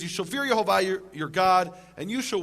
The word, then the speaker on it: Yehovah: Him by His name, which is Yehovah, or others pronounce Yahweh.